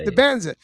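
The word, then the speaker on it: Dybantsa: This is a probably said it better than I would have said it's Di Banza.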